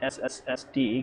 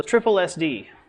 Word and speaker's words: SSSD: to be pronounced not sssd because you end up getting one too many or one too few s's in there so triple SD so there's one thing